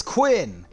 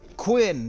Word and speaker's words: Quinn: It is Quinn. Quinn, that's what we're going with.